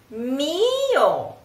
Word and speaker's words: mio: It's like E, E, E. Try it. Mio, mio. Then when you sing, you don't have to say to do this with your mouth.